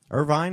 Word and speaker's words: Irvine: Irvine or Irvin? Irvin. Well, I had to find that out myself. It's spelled Irvine.